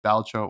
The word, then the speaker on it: Balatro: this in 3, 2, 1, Balatro. Balatro. Yeah. Yeah, or balatro, as a lot of people call it. Listen, Yes. it's all right. It's pronounced Baltro or Balatro.